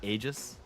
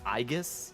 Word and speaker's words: Aigis: wrong this entire time it's not AIS it's aigus are you kidding me who looks at that and thinks it's aigus instead of AIS am I underst the